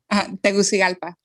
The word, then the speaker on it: Tegucigalpa: GALPI? PA, as in apple. How do you pronounce that? Tegucigalpa And where is it?